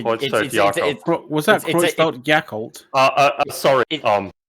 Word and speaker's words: Creutzfeldt-Jakob: Was that it's- it's- Creutzfeldt-Jakob? Sorry. Proper German pronunciation would be Creutzfeldt-Jakob. It's a B sound at the end.